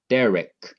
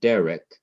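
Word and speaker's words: דרך: to the reader that in this word derek, you're going to emphasize the syllable before the last syllable, which is de.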